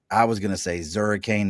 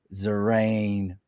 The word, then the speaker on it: Zurriane: for him, and then he told me I was pronouncing his name wrong, because I was gonna say Zurriane the Hurricane was coming through with us, but he said it's Zurriane.